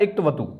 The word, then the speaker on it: क्तवतु: कत्वतु बार बार आता है लेकिन इसका उच्चारण होता है इक्तवतु।